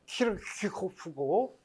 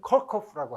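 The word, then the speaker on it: Kirchhoff: 되게 그런 게 폴란드 사람 이름인데 이건 독일 사람인데, 그래서 독일 사람의 발음을 따르자면 키르키호프고 미국 사람들은 컬커프라고 하죠.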